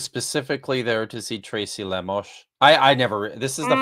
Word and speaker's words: Lemos: there to see Tracy lamos I never this is the fun thing about SPL is learning is learning how everyone's names are pronounced I always just said Tracy Lemos uh it's Tracy lamos uh she's done some